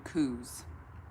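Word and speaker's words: Koos: uh pronounced his name kuz k-o-o-s how would you pronounce that cause that's not how it's spelled that like boo booze with a k i do not do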